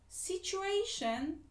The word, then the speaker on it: situation: Situation, T-I-O, şey okunuyor.